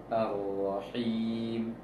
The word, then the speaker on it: ar-rahim: Seharusnya ar-rahim, him, ha kecil yang kayak jim itu tengah tenggorokan, him, ar-rahim.